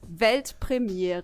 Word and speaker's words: Weltpremiere: It's actually Weltpremiere. Tu mir jetzt. Pretty similar, right? I think I could do that. Da wurde wahrscheinlich kurz Kritik geübt. Yeah, do it. Weltpremiere.